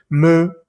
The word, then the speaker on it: me: La palabra ME se escribe ME y se dice me. No vamos a decir M, o si no, S o T.